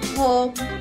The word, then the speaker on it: home: కాబట్టి HOME యొక్క ఉచ్చారణ అవుతుంది హెచ్ యొక్క శబ్దం హ, ఓ యొక్క పేరు ఓ, ఎం యొక్క శబ్దం మ. పదం యొక్క ఉచ్చారణ అవుతుంది హోమ్, హోమ్. పదండి మిత్రులారా, ఈ వీడియో మరోసారి